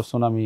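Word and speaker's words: tsunami: না কিন্তু রাইট সামনে টি থাকবে কিন্তু টি এর উচ্চারণ হবে না এটা বলে সাইলেন্ট লেটার যেটা বাদ পারচেস মানে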